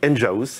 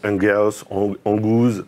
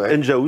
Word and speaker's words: Enghouse: comment prononce-t-on votre nom donc on dit Enja House et non pas enfin on peut se poser la question Hunger Angus ou autre donc enjaous c'est la maison des ingénieurs ok c'est une société qui